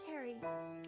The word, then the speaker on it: Carrie: pronounced Carrie. Like a K.